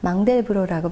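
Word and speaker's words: Mandelbrot: 프랙탈에 대한 논의가 대중적으로 알려지게 된 것은 망델브로라는 프랑스 수학자를 통해서인데요. 네. 만델브로트라고도 발음을 했었고 최근에는 외래어 표기법에 따라 망델브로라고 발음을 하는데 네.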